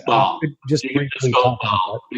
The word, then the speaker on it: Baal: And that is The Ball. And I don't think I'm pronouncing that correctly, Baal, maybe, Theory of Christianity. It's Baal.